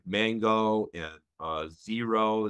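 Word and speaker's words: Xero: like mango and uh zero that's spelled with x x e r o there's QuickBooks um which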